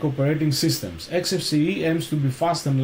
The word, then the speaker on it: Xfce: XFC pronounced as four individual letters is a free and open source desktop environment for Linux and other Unix like operating systems. XFCE aims to be fast